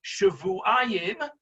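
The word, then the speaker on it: שבועיים: And we had the discussion as to whether the word Shavuayim, which is the way it's pronounced when you read it, or it could be Shiv'im, meaning 70.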